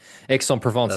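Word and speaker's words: Aix-en-Provence: you were impatient and you didn't let me Exon Provence is obviously how you say it, mate.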